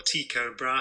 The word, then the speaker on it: Tycho Brahe: that observations by and I always pronounce it wrong it's Tycho or Tycho Brahe hey Danish nobleman very